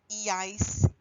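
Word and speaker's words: ía: sure in pronunciation that we punch that E part of that ending. So it's ia instead of having the stress of the word somewhere else.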